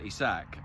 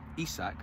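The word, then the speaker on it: Isak: right now Eve Alexander he sack o e sack I think is supposed to put the accent on the I at the start he's he's brilliant to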